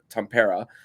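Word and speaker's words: Tampere: the travel to tempera I I found um with Steve Goldstein pronouncing it I realized I was pronouncing it incorrectly tempera uh is is how is how it is but the Panthers are going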